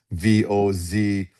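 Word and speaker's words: Gvozdyk: So Vozdik is Gvozdik, right? In America, it would be Vozdik.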